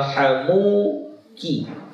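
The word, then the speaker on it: حَمُوكِ: Bagusnya bacanya wa hamuki.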